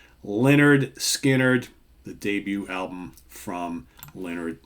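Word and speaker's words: Lynyrd Skynyrd: for MCA records recorded in Studio One in Doraville Georgia produced by Al Cooper of course I'm talking about pronounced Leonard Skynyrd the debut album from Leonard Skynyrd arguably the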